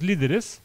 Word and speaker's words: líderes: L-I-D-E-R-E-S with the accent on the first I. Yeah, on the I. There you go. One's the leaders, Os líderes, and one is internal enemies.